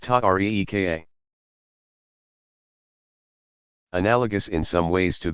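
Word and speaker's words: tariqa: came to be called Terra cos pronounced tuck ree ka analogous in some ways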